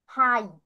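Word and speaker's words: high: তাহলে এইচ এর জন্য হ, আর ই এটার জন্য আই এসেছে, লাস্টে জি এর যে গ উচ্চারণ হয় বা ঘ উচ্চারণ হয়, এটা এখানে আর হয়নি, সেটা মনে রাখতে হবে আমাদের।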